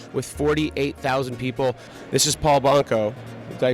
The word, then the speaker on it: Paul Banco: This is Paul Banco. Did I pronounce that correctly?